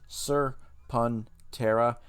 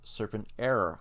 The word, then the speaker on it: Serpentera: page for serpentare it shows you how to pronounce it sir pantera but it's apparently a lot of people mispronouncing with serpent error i don't know who those people are but